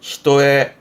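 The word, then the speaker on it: 一重: 그래서 발음이 히토에 히토에 한 겹도 요렇게 많이 씁니다.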